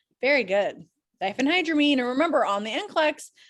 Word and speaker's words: diphenhydramine: hydramine yes yes actually you said it right diphenhydramine that's excellent so diphenhydramine is actually that's the